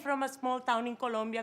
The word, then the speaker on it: Colombia: And also, the stress is on the second vowel. It is not Colombia. It is Colombia.